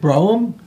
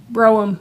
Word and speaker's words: Brougham: We have Brougham. Is that how you say it? Brougham? Brougham, yeah.